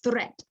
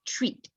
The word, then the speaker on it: threat: So you pronounce as threat because there's a H here. So threat versus treat. Okay, there are two different things.